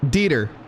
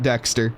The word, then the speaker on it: Dieter: Oh, you're right. Dieter. My apologies. T_Dieter for the follow, not Dexter.